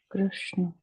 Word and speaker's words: Krishna: And so whenever you see the R written like this, or just the R sound, or like a Brihaspati, okay, and Krishna, these have to be pronounced without modifying the shape of the lips into a E kind of orientation or U kind of orientation.